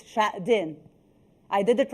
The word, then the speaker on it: Xuejing: I'm doing my own rehearsal to pronounce your name well. So it's Xuejing.